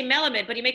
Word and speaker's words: Melamed: do i pronounce it it's melamed it is an element it is melamed i mean properly it's malamad as you said yes with sephardics like